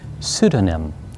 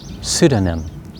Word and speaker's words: pseudonym: the first one uh the letter p is silent so the correct pronunciation is pseudonym will you say it with me pseudonym pseudonym a pseudonym is a